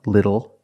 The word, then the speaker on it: little: When you see TLE or TTLE, phonetically the T is between vowels. And for this reason, the T changes to a fast D in American pronunciation. That's why we do not say little, we say little. And we do not say bottle, we say bottle. So this is a little bottle.